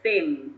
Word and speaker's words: thing: thing okay that's thin thing the thing with with the tongue in between the teeth it's it yeah yeah